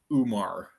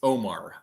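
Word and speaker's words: Oumar: on mute but uh a lot of people call him umar it's it's omar i know it's it's o u it's o u m a r is how it's spelled but it's omar it's not umar aj all i want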